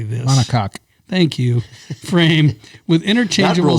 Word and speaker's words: monocoque: Monocoque.